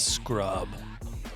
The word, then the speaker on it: Scrub: His name's Scrub. nice. AKA. Well, I should say his name is Adam, AKA Scrub. Scrub and Asa. You should check it out. SCRUB. It just spelled like it sounds, and Asa.